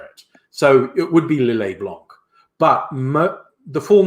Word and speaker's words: Lillet Blanc: Yes, with French, if you say a word that ends in a T, you don't pronounce it. You'd say Lillet. But if it's two-pronged and the second part starts with a consonant, you pronounce the previous consonant.